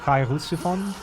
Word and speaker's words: Cheirosophon: But the CH is definitely pronounced as a sound. So Cheirosophon.